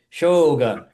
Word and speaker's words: Shogun: I was just Googling how Japanese works because I was watching Shogun, and you have to say Shogun.